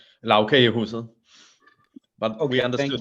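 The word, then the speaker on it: Lagkagehuset: Even if you have at the airport, what's the Lagerhuset? I know I'm not going to manage to pronounce it properly for the Denmark. Justin, do you want to say it properly? Lavkagehuset.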